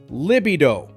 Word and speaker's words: libido: Start with li, then b, and finish with a smooth do. Together, libido.